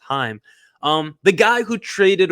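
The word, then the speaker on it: Chaim: I think it's pronounced I always call him shame but I think it's pronounced Heim um the guy who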